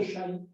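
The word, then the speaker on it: xai: Et bien le X en catalan se prononce che. Et bien donc, chai va s'écrire xaï. La xaï, mais on prononce chai.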